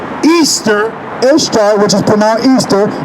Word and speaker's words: Ishtar: Lord listen to this Ishtar which is pronounced Easter instead which is tonight